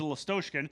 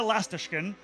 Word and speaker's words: Lastoshkin: because for 4 years I called him Nikita Lastoshkin. Yeah, and that's why it was okay for him. He didn't tell me. Then I find out earlier this season that I've been saying it wrong. So now we're all trying to relearn. It's Nikita Lastashkin, and I'm doing the best I can for Nikita.